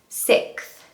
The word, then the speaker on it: sixth: Well, I'm here to tell you that you can completely forget the X. Just pretend it doesn't exist. The hack is that it's the word sick with TH.